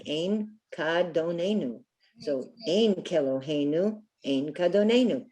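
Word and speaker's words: אין כאדונינו: Then the second part says Ein Kadonenu. Can anyone see the root word there? It's another word for God or master or Lord. Adon. Adon, beautiful. Ah. Ein Kadonenu.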